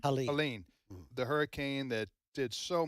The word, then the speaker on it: Helene: in the aftermath of, was it Helena? Is that how you pronounce the hurricane? Helene.